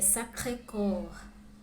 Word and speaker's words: Sacré-Cœur: La Tour Eiffel, le musée du Louvre, la Seine, la cathédrale Notre-Dame, Jardin du Luxembourg, Arc de Triomphe, Montmartre et Sacré-Cœur, Centre Pompidou.